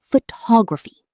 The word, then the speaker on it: photograph: Photography, stress on ta. Photograph, stress on faux. Photographic, stress on graph. Same letters, 3 different stress patterns, 3 different words.